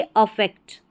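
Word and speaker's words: affect: इसका मतलब होता है यहां पर उच्चारण है प्रभाव डालना अफेक्ट डालना यानी कि प्रभाव डालना और इसको हम पढ़ेंगे इफेक्ट यहां पर देखिए उच्चारण है इसमें इफेक्ट इसका मतलब है प्रभाव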